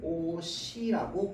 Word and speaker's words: 옷이: 이거 발음 어떻게 합니까? 우리는 오시라고 발음합니다.